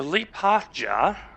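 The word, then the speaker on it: Liepāja: So Lipaja, or Lipaja, depending on how it's pronounced.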